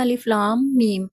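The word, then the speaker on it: الم: کو ادا کریں گے۔ تو اسے ہم صحیح ادائیگی تلفظ کے ساتھ اس طرح سے ادا کریں گے، الف لام میم، یعنی آپ نے میم پہ غنہ کے ساتھ پڑھنا ہے۔ تو ان کو کہتے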